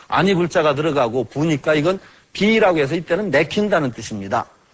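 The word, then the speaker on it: 否: 비라고 이건 부라고 이제 가부라고 할 때 부인데 괴 이름으로 할 때는 비라고 읽습니다.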